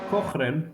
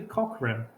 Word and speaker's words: Cochrane: Alex Cochrane, I've been pronouncing like that. It's actually Cochrane.